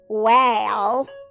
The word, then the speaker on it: whale: Now I need a, not an a, because we don't say whale. That sounds silly. We say A for acorn. Let's try that one. Wah, a-yo, with a silent E at the end.